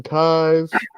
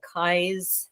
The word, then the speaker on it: Keyes: And I should add, it'll be rolling up the screen anyway, but Keyes is spelled Keyes, correct? Oh, yes, correct, yes. Right. So it almost like keys, but with an extra E, you know.